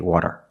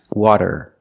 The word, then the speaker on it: water: If you pronounce the fast D as a rolled R, you will have an accent. People will probably understand you, but it's not correct. We cannot say water. It's water. Water.